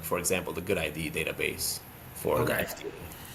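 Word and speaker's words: GUDID: So basically like for the US they have the good ID. It's spelled G UD ID.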